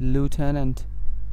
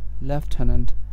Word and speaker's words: lieutenant: আই ইউটিই এন এনটি লুটানেন্ট লুটানেন্ট এটার British উচ্চারণ হচ্ছে লেফটানন্ট লেফটান্ট সো আমরা এতক্ষণ যে ফ্রেঞ্চ অরিজিন ইংলিশ ওয়ার্ডস গুলোর প্রনান্সিয়েশন দেখলাম এগুলো হচ্ছে মূলত আমেরিকান প্রনান্সিয়েশন।